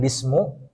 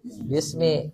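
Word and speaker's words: بِسْمِ: tanda jar apa kasr makanya di sini dibacanya kas kasr bukan bismu bukan Bisma tapi bis Bismi Kenapa dibaca Bismi karena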